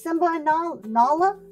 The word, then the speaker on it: Nala: Look at it's not It's Simba and Nal Nala. Nala, is that how you say it? I don't say Nyla.